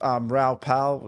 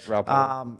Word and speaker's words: Raoul Pal: And for many of those that watch Raoul Pal, is that how you pronounce his name? I think it is. Yeah, Raoul Pal.